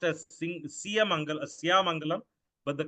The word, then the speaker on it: Siyamangalam: Siya, it's incorrectly pronounced as Siyamangalam, but the correct pronunciation is Siyamangalam.